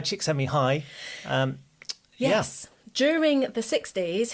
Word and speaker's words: Csikszentmihalyi: So I'd got his surname cracked, but then it's Mihai Csikszentmihalyi.